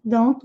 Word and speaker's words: don't: Then don't watch. Muitas vezes eles não pronunciam esse T na palavra don't e dizem simplesmente don't, don't.